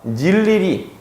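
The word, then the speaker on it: 늴리리: 첫째 음절에서 자음 더하기 의가 나왔을 때 얘는요, 무조건 그냥 이로 발음하시면 돼요. 무슨 말이냐? 닐리리, 닝큼, 띄어쓰기. 그냥 항상 이예요.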